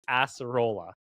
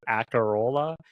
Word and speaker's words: Acerola: wasn't 100% sure, but the actual pronunciation is Acerola. Okay, I was gonna like completely butcher it. Acerola. It's Acerola.